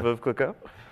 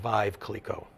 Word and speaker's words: Veuve Clicquot: worst mispronunciation you've ever had for Veuve Clicquot? I had a guy come in one time and call it Vive Clicquot. Okay. It's just a little bit off, but hey.